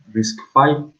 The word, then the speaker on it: RISC-V: bien a fondo, que es la arquitectura de RISC-V, se pronuncia.